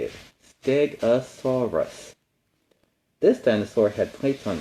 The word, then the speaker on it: Stegosaurus: Stegosaurus.